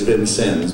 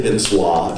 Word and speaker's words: Vincennes: How do you pronounce it locally? Officially, it's Vincennes, but you can say Vincois if you'd like. Vincois. I'm going to try and be a local. Vincennes, Indiana, for Big D, Beetle Opportunity Knox.